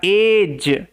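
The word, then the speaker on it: edge: সে reached পৌঁছেছিল দা এজ এই যে জি এর আগে ডি আছে না ওই কারণে ডি কিন্তু সাইলেন্ট ডি এর উচ্চারণ হয় না শব্দের শেষে জি ই থাকলে জ সাউন্ড হবে ওকে এজ কথার অর্থ হচ্ছে ধার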